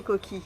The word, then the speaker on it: coquille: alors la prononciation c'est coquille, mais il y Voilà.